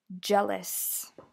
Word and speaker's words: jealous: from class so pronunciation jealous jealous so with the J at the beginning of a word you have to build it up jump jump uh anecdote